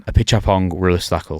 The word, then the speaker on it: Apichatpong Weerasethakul: Apichatpong Weerasethakul.